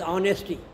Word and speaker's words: honest: are not pronounced as honesty H is there but pronounced honest ah he is an honest